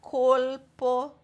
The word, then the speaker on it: colpo: Você vai falar colpo, volpe, il, al, col. Tem esse som de L, precisa falar esse som de L.